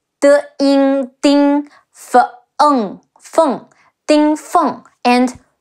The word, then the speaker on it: Ding Feng: Anyways, there is also Ding Feng, De Ying Ding Feng, Feng, Ding Feng, and Lu Su, Le Wu Lu, Si Wu Su.